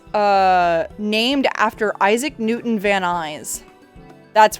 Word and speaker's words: Van Nuys: gonna tell you now it's pronounced van nuys and it's been pronounced van nuys for ages and if you look that up it's it's not some it's some white dude named this yeah it's van nuys like van guys yeah it's and truth